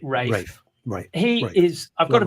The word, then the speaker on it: Ralph: Ralph Fiennes, of course. Or is it Ralph Fiennes? Ray. Well, I think one pronounces it Rafe.